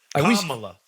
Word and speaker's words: Kamala: Kamala. Let's say Vice President Kamala Harris. Emphasis on the first A.